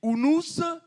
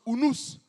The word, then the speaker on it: unus: C voyelles en latin et le U se prononce comme ou même si en français c'est marqué unus c'est ça se prononce unus pro omnibus en français